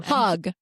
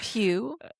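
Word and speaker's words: Pugh: Pug. Yes, I did. Is it Pew?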